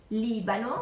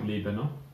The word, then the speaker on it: Libano: Libano. Which we will pronounce as Lebanon. Yes, yeah. Yes. Libano. Repeat it. Libano.